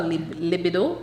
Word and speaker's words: libido: Are there any natural methods you can recommend for a woman to boost her libido? Is that how it's pronounced? Right. Libido? Yes. Libido. Libido.